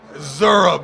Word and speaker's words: Zurab: Zur how do you say his name Mike zurab they said I was going to say I